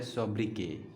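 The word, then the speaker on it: sobriquet: के यू ए टी लेकिन इसका जो प्रनंसीएशन है वो है शबरी के क्या है शबरी के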